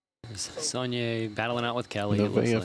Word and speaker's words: Nevaeh: Nevaeh Finley. Did I say it correctly that time? Yes, you got it that Good time.